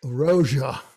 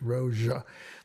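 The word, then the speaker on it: Rózsa: So here we again have the ZS combination. Is Miklos Rozsa.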